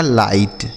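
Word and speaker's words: light: एल आई जी एस टी तो एल आई से पढ़ेंगे बच्चों लाई और जी एस टी को क्या पढ़ना है? ट लिखा गया आपका लाइट। ठीक है?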